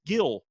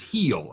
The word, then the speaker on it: Gil: Luis Gil, or Hill, however you want to pronounce it, is pitching for the Yankees. It is Heel, actually. Heel, sorry.